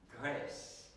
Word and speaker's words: GRECE: prawda, skrótowiec, to wtedy wyjdzie nam GRES. To w wymowie francuskiej, ale to będzie jak Grece, prawda? Czyli co? Grecja.